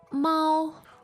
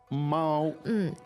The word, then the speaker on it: 猫: 猫 Mao. Mao. First tone, right? Yes. Should be easy to remember as it sounds so much similar to meow. It kind of does, yeah. Yeah. Mao, and remember the first tone.